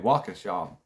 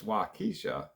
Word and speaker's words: Waukesha: had i couldn't spell i couldn't pronounce waukesha earlier i was saying waukesha and somebody in the comments said hey it's waikisha and i appreciate that